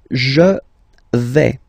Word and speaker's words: vais: The first form is je vais. Okay, so remember, final S not pronounced here. Je vais. Okay, when you combine this A-I, you get the sound A, really open, okay?